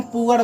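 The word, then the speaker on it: poor: जैसे PRR, इसको हम पुर नहीं बोलेंगे, इसको हम पुअर बोलेंगे। यह पुर जो है ये गलत हो जाएगा।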